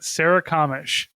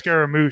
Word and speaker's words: Sarikamish: this one before no SAR Sarah kamish that's right see I saw you named this and I was trying to uh you named it Sarah kamish now I know how to pronounce it I was just thinking it was Scaro like uh um scar